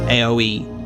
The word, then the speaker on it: Aoi: want to quickly apparently it's aoe aoe aoe is how it's pronounced uh what is its